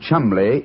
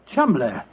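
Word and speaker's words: Cholmondeley: Being an American, he had no reason to know that the name Chumley is in no way pronounced the way it is spelled. Oh, Joe, I never thought of that. Chumley.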